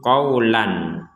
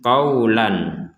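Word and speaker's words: قولا: Ya, kalau dibaca itu qawlan. Sekali lagi qawlan. Namun ketika barusan kenapa kita bacanya fabaddalal ladzina dzalamu qawla? Nah, di sini qawla karena kita berhenti di sini. Fabaddalal ladzina dzalamu qawla. Jadi berhenti di qawla. Nah, akan menjadi satu harokat.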